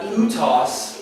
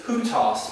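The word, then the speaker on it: οὗτος: So there's no H letter in Greek, but there is a change of mark to indicate how it's pronounced. It's called a breathing mark. So that's why this is not utos, it's hutos, because it's curved that way.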